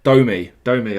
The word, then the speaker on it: Domi: Was it Domi, wasn't it? Domi. I used to say Dommy, wasn't it?